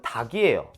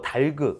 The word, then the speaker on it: 닭: 기억도 어렵지 않죠 닭은 닭이요 리를 굳이 발음하고 달그 이렇게 발음하는 사람도 있는데 틀린 겁니다 그냥 닭이요 닭치고 할